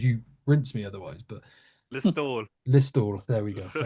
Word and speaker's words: Listowel: But Listowel.